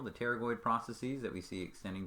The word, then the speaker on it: pterygoid: these are called the pterygoid processes the p is silent so it's like pterodactyl the pterygoid processes that we see